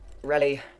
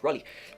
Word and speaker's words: Raleigh: smith rally north carolina let's see how you pronounce that dictionary tell me rally riley raleigh okay raleigh raleigh north carolina none 644 new